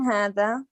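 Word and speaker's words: هذا: Hada is pronounced hada, but it is written without an alif, without the first alif.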